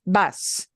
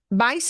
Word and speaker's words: va: that you call by their first name, it's vas. Vas. Vas. Vas. Vas, right? To talk about one person going, whether it's él, a guy, ella, a gal, or usted, the formal you, it's va. Ah. Bah.